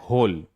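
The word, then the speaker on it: whole: अगला है होल, WHORI, देखिए W क्या हो जाएगा, साइलेंट। क्या पढ़ेंगे, होल।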